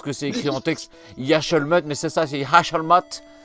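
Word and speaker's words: Yec'hed mat: Yashalmat, mais c'est ça, c'est Yashalmat.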